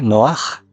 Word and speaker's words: Noaj: Estamos hablando en el nivel literal de Noah, noé. Noaj, Noé, Noaj. Y vamos a descubrir que Noaj, tal y como se escribe en hebreo, lo vemos en la parte superior izquierda.